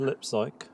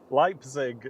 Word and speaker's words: Leipzig: Yeah, there's a Swift Air 757 going from Shannon to lipsy. Lipy. Lipzig. Leipzig. Lipig. Might be a little bit too. In German you always pronounce the second vowel. So ei is I.